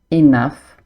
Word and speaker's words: enough: example with couldn't make enough dough. So, even though they both end in o u g h, the pronunciation is completely different. Enough. Dough.